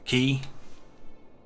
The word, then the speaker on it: quay: the top of the motorway canals canals a key it's called a key even though this it's